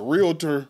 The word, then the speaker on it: realtor: get a real damn I still say it wrong it's a realtor yeah real Tor yeah it's not a